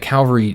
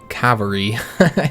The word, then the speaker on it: cavalry: the main thing that Calvary does and I'll try and pronounce it right cavalry such difficulty with that word I know how it's spelled guys I know how it's supposed to be said and we are